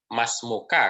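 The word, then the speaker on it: ما اسمك: Nah, jadi bukan man ismuka, tapi ma ismuka, kemudian cara membacanya masmuka kalau laki-laki, kalau perempuan masmuki.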